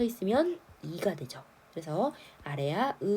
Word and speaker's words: 아래아: 자, 무엇을 본떴느냐 그러면 첫 번째로 자, 요 이름은 아래 아예요. 아래에 오지만 아라고 읽는 거예요.